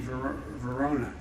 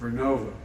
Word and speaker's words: Vernova: going to go into turbines made by GE Verona excuse me I mispronounced it vernova in Florida New York pattern energy will use